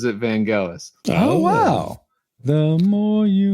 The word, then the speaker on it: Vangelis: Well, if you're American, most of them say Vangelis, but if you're actually like from the England and from Greece himself, pronounces it Vangelis.